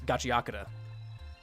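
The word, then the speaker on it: Gachiakuta: Also, I found out recently that it's not Gachi and it's Gachiaka. So, I've been trying to rectify my pronunciation.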